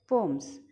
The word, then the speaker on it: poem: कविता लिखे आई right पोम्स आपण मन रखिदेबे POEM पोएम नाई पोम एमती प्रोनाउंस करंती ओके एटा बहुत जण भूल pronunciation करंती but remember POEM इज पोम इट इज नॉट पोएम okay तो आपण जदि